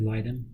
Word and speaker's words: Leiden: she had a v factor v is it lyden factor v leiden oh okay factor five leiden yeah um if